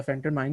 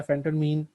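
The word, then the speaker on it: phentermine: फेंटरमाइन या फेंटरमीन जो भी बोल रहे हैं आप बोल सकते हैं, दोनों सही हैं प्रोनाउंसिएशंस।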